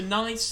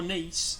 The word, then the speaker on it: Nice: to sleep so we can now go to nice in France or nice as it's pronounced I likes a nice faster ass and